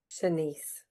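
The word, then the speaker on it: Shanse: Um, how do you say that? S H A N S E. Senise. Senise.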